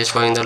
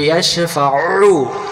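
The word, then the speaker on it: يَشْفَعُ: আইন অক্ষরটা গলা চেপে আদায় করব আমরা। এই জায়গাতে আমরা যদি বলি ইয়াশফা'উ, উ উ, তাহলে হামজা পেশ উ, আইন পেশ উ একই হচ্ছে। জি জি। আইন অক্ষর হলকের মধ্য থেকে একটু চেপে পড়তে হবে।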